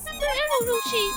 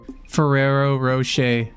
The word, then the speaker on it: Ferrero Rocher: The name is of Italian origin, and in Italian the CH is pronounced like K, but since it's international brand now, most people prefer the sh sound.